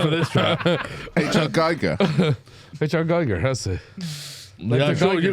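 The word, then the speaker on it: Giger: It's spelled G-I-G-E-R. So I'm not falling for this trap. H.R. Geiger. H.R. Geiger, that's it.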